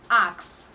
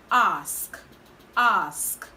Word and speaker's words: ask: is ask ask ask the difference is we are using a k in the first word which is the wrong pronunciation and then the right pronunciation is actually s okay axe ask ask